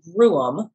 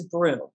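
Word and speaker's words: brougham: a coach was sold it is called a broom although some pronounce it as broom it was on display along with two other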